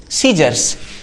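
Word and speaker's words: scissors: सीजर्स। सीजर्स मतलब कैंची। कैसी? तो एस के बाद यदि कभी भी सी दिखाई दे तो सी क्या रहेगा? साइलेंट रहेगा।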